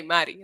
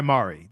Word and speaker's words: Mari: We're just trying to establish how it's correctly said. See, we say Maddie, like the Yes. Spanish version. Yes. But she goes by Mari. That's her preferred pronunciation, which we've learned is